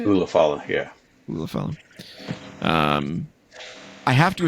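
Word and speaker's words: Ula Fala: Ulafala, yeah. Ulafala. I have to assume this is going to be the main event because, they're doing it for the Ulafala. Roman Reigns is going to get the Ulafala back, and then The Rock's going to show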